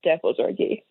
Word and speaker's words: Dehbozorgi: it right next time well you actually nailed my last name pretty well but it's deori deori thank you so much